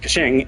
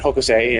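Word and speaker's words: 刻晴: Like, those characters are pronounced Kaching in Chinese and Hokusei in Japanese.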